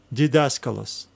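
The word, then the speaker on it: διδάσκαλος: stigma now let's read it d daskalos dcos didaskalos a teacher and the last word is a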